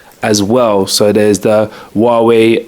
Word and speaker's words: Huawei: yeah Huawei came out that's how you say it by the way Huawei H UA we I I heard loads of people call it haawi they got uh the